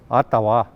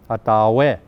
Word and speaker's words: Ottawa: The proper pronunciation is Ottawa, Ottawa.